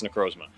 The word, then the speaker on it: Necrozma: in the trailer, there's like, how do you pronounce the thing's name? Necrozma. I think it's Necrozma.